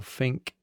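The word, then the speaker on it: Finke: your pictures, was that, is it pronounced Finky or Fink, that desert race?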